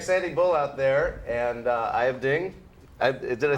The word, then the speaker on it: Aiyb Dieng: So come and check Sandy Bull out there, and Aiyb Dieng. Did I say it right? Aiyb Dieng. Aiyb Dieng.